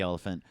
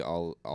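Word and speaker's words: Olyphant: He and Timothy Elephant look similar when they have mustaches and are sheriffs. Yeah. I like Timothy Oliphant. He's great. I don't know how to say his name good. Michael Elephant. Yeah. Oliphant?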